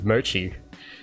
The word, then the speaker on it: mochi: Like, how on earth do you not pronounce it correctly? I don't understand. That's like the only way you can pronounce it is mochi. I don't know where people get a K from.